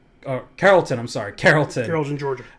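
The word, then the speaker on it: Carrollton: High School in Florida uh I hope I'm pronouncing this one right number 12 is uh coron oh Carolton I'm sorry Carolton Carolton Georgia yeah in Georgia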